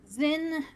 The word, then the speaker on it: Zyn: Zin, and the last name is Vielin, Vielyn. Zin ZYN Vienlin. is the first name. Yeah. Zin.